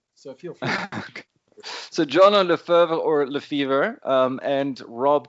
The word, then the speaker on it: Le Feuvre: Is it Le Feuvre? Or? I mean, it may be a bad time for the analogy, but it really is pronounced like the sickness, fever, Le Feuvre.